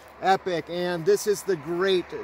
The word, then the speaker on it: Epoch: in that way but this is spelled epoc h epic and this is the